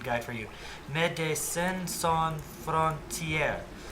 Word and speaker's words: Médecins sans frontières: Médecins sans frontières. All French words with the accent of the final syllable.